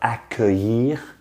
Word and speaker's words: accueillir: Don't try necessarily to read the written form because it has L's in it. I mean, what the hell, L's are pronounced y. Just focus on the sounds. You can do that. Que, because you say it all the time. Je pense que, it's the same word.